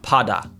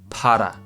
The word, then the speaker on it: para: Now, if you can't do a rolled R, you can do like a soft D sound. Okay, not like a normal English D, not pada, para.